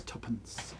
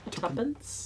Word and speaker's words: tuppence: It's tuppence. Tuppence? Tuppence. It's written 2p, but pronounced tuppence.